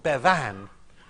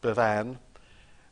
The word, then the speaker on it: Bevan: I think, was Aneurin Bevan. Churchill always used to put the emphasis on the second syllable because he rather liked Bevin, but did not like Bevan.